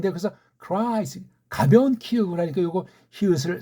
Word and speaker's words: Christ: 그래서 Christ, Christ. 스트는 자기네들끼리 쭉 말하니까 알아. Christ, Christ. 이것도 크라고 하지만 완전 K 같은 크 소리로 내지 않습니다.